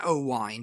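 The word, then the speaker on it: Owain: always yeah yeah yeah i say oh wine but it's spelt o w a i n yeah so it's wayne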